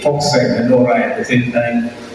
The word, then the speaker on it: Volkswagen: So the English pronunciation goes Volkswagen because it is a V, Volkswagen. In German it is Volkswagen.